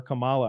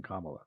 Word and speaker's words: Kamala: or I keep getting corrected on how to pronounce her name but I don't mean to disrespect when I call her Camala I just thought that was her [ __